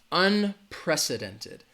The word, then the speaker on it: unprecedented: the word right there unprecedented it has five syllables all right unprecedented the stress is going to be on that second syllable that press unprecedented unprecedented all right unprecedented rumah